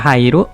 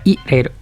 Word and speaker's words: 入: Artinya masuk bisa dibaca hairu, bisa dibaca ireru. Onyominya nyu. Pertama hairu, mau bikinnya gini boleh, mau gitu boleh.